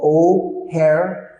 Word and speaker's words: O'Hare: The name of the airport in Chicago is called O'Hare Airport.